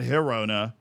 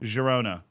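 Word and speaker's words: Girona: okay come on Jona so not Herona not Jona Jona jerona it's a medium G it's like medium rare Jona J Rona hell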